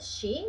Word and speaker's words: sci: That is so S C E all together are she, and it exists also in Italian the single word she that is ski.